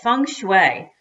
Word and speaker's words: feng shui: something to do with feng shui Fung Shui which is the Chinese way of saying some places are more